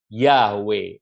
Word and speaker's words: Yahweh: iya yah ini untuk dua huruf permulaan harus dibacanya yah ya sehingga lebih memilih bukan yang ini yeah Bukan tapi Yahweh iya iya iya dulu